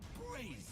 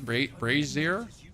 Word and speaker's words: brazier: You put out my braier. How dare you? Is that how you pronounce brazier? Isn't braier? I thought it was all braier. Brazier. I feel like you're pronouncing that wrong, Mr.